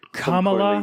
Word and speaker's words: Kamala: trying to make like it's pronounced come along soon thank you very